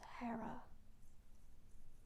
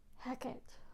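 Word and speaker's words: Hecate: of gods and goddesses Hera heck it or he depending on how you feel called to say her name fre Freya Lilith litu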